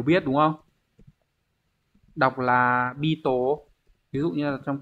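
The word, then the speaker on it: 人: ghép với từ chỉ người có rất nhiều cách đọc. Nin, jin, đấy, hay là Beetle vân vân. Ở đây chúng ta xét cái cách đọc là nin nhá các bạn nhá.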